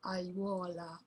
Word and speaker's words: aiuola: The word aiuola. Aiuola. The triphthong is a diphthong and an I in it.